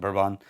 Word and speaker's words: Bourbon: It's spelled Bourbon, but Bourbon.